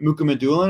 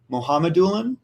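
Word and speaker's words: Mukhamadullin: that we'll talk about the guy that we call shakira mooka medulla is actually muhammadulun that's how we pronounce it which we learned yesterday and dawson mercer both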